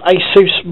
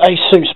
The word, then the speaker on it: ASUS: as well AMD processors asus board basis to pronounce Neysa thrasis someone help me out there I've always pronounced to a sous but I've got a terrible feeling that's wrong this I'm not going